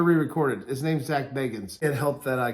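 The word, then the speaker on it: Bagans: we're gonna do more than just unbaggings it's bacons let me go back and correct i'm not gonna re-record it his name's zach beggins it helped that i call them that people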